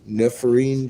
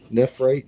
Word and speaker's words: nephrite: and then there's Neff I'll pronounce it wrong every time nephrine James nephrite Jade that looks like nephrite